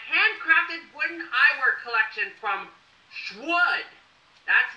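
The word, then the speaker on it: Shwood: She paid $450 on a handcrafted wooden eyewear collection from Schwood. That's right, Schwood. I'll spell that for you.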